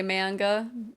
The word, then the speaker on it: manga: No, I think I used to say manga. Manga? Manga is the correct way.